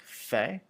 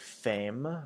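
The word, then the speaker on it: faim: Um and this one make sure that you're pronouncing fe f a i m like fe. Um, and not like fame or fam because fam is the word for woman. Um, so just careful with that one. Um, so it should be pronounced f. So sort of like an f a y sort of sound.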